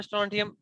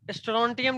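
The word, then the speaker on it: strontium: कई बार स्ट्रोंटियम लिख देता तो समझ में नहीं आता। ये एसआर क्या है? स्ट्रोंटियम।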